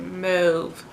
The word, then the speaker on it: mauve: I forgot that's how you say it, Mauve. We Googled it. It's Mauve, for those of you who didn't know.